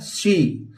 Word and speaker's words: soar: सी।